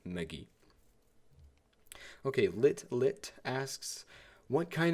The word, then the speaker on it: Megee: It's Megee. I mean, it's like M-E-H, then G-E-E. That's how I pronounce it, Megee.